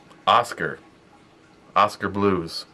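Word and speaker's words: Oskar Blues: I've always heard it pronounced Oscar, but Johnnie said that an employee from the brewery, he got to meet them. Of course, he brought a shitload of stickers. He says that it's Oscar Blues.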